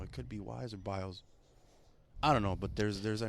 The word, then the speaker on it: Biel: So I put B-I-E-L, and I pronounced it Biel, Biels.